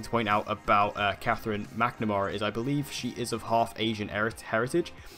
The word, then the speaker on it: McNamara: Well, if you've been keeping up with the news on Arrow, you will know that recently Katherine Mcnamara, or McNamara is how you pronounce it, I always pronounce it wrong, but Katherine McNamara has